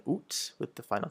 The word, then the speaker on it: août: Août. So you sort of sound like an owl a little bit when you're saying it, so it's août. You can also pronounce it, you'll also hear the pronunciation août with the final T, août.